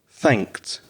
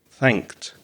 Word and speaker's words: thanked: sound at the end the e d is pronounced knocked and the same with the past tense of thank thanked thanked and when open is in the past with